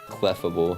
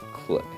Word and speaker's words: Clefable: Cleffable. Not cleable. Not clefftable. It comes out faster when I say it like that. Cleffable.